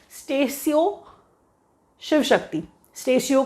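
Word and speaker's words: Statio: Latin word है स्टेशियो, दैट इज़ हाउ we pronounce it. कुछ लोग तो स्टेशो पढ़ लेते हैं, जो पढ़ना पढ़िए, कोई प्रॉब्लम नहीं है, प्रोनाउंसिएशन कोई चेक नहीं कर रहा आपका।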